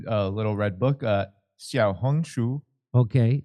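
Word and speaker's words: 小红书: uh what oh a little red book uh xia hungu okay xia hungu okay it's a hugely popular social media app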